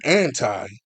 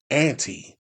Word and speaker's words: anti: When anti is used as a preposition, it is pronounced with the long I sound, as in I'm anti the abuse of drink.